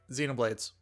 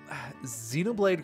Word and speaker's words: Xenoblade: if I remembered correctly xenom blades I mean first off you said the goddamn name wrong hey that is that is me showing how little respect I have for my opponent no I mean it's Xenoblade Chronicles sounds like an amazing